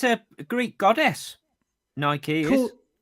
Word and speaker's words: Nike: But then the opposite is um with Nike cuz we say Nike but it's actually Nike. Well, yeah, cuz it's a Greek word, isn't it?